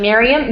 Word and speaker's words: Mirjam: And then, how do you say your name? Merjam is doing her makeup. Mirjam? I don't. Miriam. Miriam.